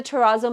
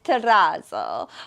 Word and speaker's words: terrazzo: way and I know the proper way of saying this is Terrazzo but we are Canadian so our pronunciation is not the same so excuse us we call it Terrazzo and the last item